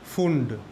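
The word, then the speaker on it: Pfund: এই সিরিজের নাম হচ্ছে ফুন্ড, পিটা সাইলেন্ট।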